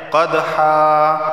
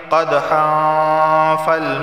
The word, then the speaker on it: قدحا: کر پڑھا جاتا ہے۔ قدحا، یہاں پہ دیکھیں قلقلہ ہوگا کیونکہ دال حروف قلقلہ میں سے ہے۔ اچھا اب ان دو کو اگر ملا کر پڑھیں گے قدحا اب یہاں بھی دیکھیں